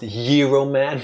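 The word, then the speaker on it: Gyro Man: It's actually pronounced Hero Man because he's Greek.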